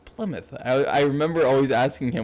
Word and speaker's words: Plymouth: my get supply mouthing he's like no it's Plymouth I remember always asking him which would know